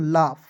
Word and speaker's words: laugh: तो दोस्तों यहाँ आप देखेंगे LAUGH, तो इसे पढ़ेंगे दोस्तों लाफ, LAUGH पढ़ेंगे लाफ।